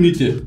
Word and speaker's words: Mitte: planta Heiskraftwerk, en Berlín Main. ¿Qué es Berlín Main? Es el centro de Berlín. Exactamente. Estuve haciendo digamos un curso de pronunciación con Google Translate Berlín y Main. eso sería Heiskraftwerk Berlin Mitte.